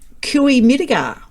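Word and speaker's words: Cooee Mittigar: Now, Kui Midigar, how's that for pronunciation?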